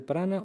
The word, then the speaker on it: prana: Medicina Ayurveda y el yoga son canales del cuerpo sutil a través de los cuales fluye el prana, o mejor pronunciado prana, el aire inspirado.